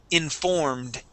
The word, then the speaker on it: informed: And again here with this ed. Okay, informed. Informed. Okay, pull your tongue back. Okay, pronounce a D.